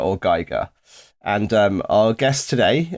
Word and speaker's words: Giger: is the correct pronunciation well the the correct pronunciation is most definitely Giga I have it on Authority from the HR